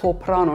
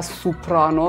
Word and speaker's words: سوپرانو: سپرانو گرد اولاً تلفظ درست این کلمه هست سپرانو نه سوپرانو خیلی دیدم که میگم من سوپرانو می‌خونم اینم باز یه داستان